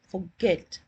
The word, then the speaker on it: forget: So, for example, if I pronounce the word as forget, my stress is on get.